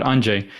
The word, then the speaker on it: Andrzej: It's like RZE. It's like how the heck am I going to pronounce it? It's like the equivalent of Andrew.